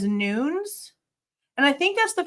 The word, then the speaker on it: Nunez: point on top of apparently Nunez is not pronounced Nunees. In the video, one of the people, one of the police officers that's been working with him, they say his last name as Nunes, and I think that's